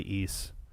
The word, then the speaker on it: Ys: east i don't understand i think that one's officially east wacky too yeah it's easter ice but i think it's east that's a good point